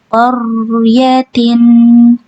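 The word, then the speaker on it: قَرْيَةٍ: Qaryatin. Biar antum enggak mantul huruf ro-nya bisa dialirkan. Qaryatin. Jadi cara bacanya qor ya, qor, jangan qar ya, bukan qar ya. Jadi huruf ro-nya bukan tipis tapi tebal.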